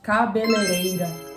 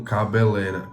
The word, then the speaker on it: cabeleireira: Cabeleireira. Cabeleireira. Cabeleireira. Cabeleireira. Cabeleireira. Cabeleireira. Sim, eu pronunciava como cabeleira.